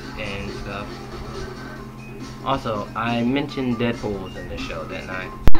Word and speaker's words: Deadpool: stuff also i mentioned deadpool's in the show that night dang skippy where are my manners introductions call me deadpool it rhymes with no school season three he got